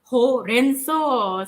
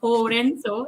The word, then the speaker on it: horenso: Actually, the pronunciation of horenso is is similar as spinach, bayam lah kan in Malaysia.